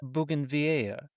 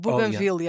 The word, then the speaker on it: bougainvillea: Bougainvillea. And I think that's the way we're supposed to pronounce it, but everyone says bougainvillea because they think it's French, but it's not at all.